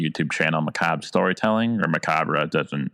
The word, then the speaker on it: Macabre: Yeah, I run the YouTube channel Macab Storytelling or Macabre, doesn't When I first started I thought it was pronounced Macabre, but I guess it is pronounced Macab, so kind of already